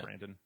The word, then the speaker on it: Brandon: It is O-N, not E-N. I'm just lazy with my own name pronunciation. So It sounds like I'm saying Brandon. That's Brandon.